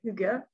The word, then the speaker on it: Hygge: le mode d'éducation danois, le Hygge, qui se prononce comme ça, mais qui s'écrit H-Y-2-G-E.